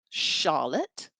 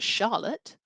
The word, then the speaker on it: Charlotte: So my name, Charlotte, begins with a CH. That grapheme, CH, has a soft sound like sh for Charlotte, but CH also has a harder sound as well, like church.